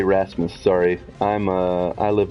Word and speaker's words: Rasmus: are at the beginning of a word is pronounced like an H so that's like my my automatic go to so yes Rasmus gotcha Rasmus nice to meet you friend play